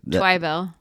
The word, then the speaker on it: Twibell: But, so Twibell, you say Twibell. What does Keeg say? Emphasis on the wrong syllable. Yeah. So the second syllable gets the Twibell.